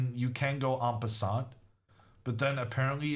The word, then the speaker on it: en passant: And that was an en passant checkmate. Or apparently I'm pronouncing it wrong. This T is silent, someone said. En passant. En passant.